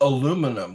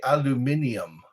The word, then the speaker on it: aluminium: We say aluminum. They say aluminium. We say aluminum, and it's spelled aluminium.